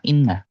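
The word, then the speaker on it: إِنَّ: Inna di sini kan pendek ya. Nah, dia bacanya kayak gini. Inna. I-nya malah dipanjangin. Inna. Jadi seolah-olah antara i dan nun itu ada huruf ya.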